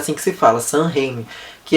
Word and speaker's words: Sam Raimi: Eu acho que é assim que pronuncia o nome dele, deixa eu ver. É assim que se fala, Sam Raimi.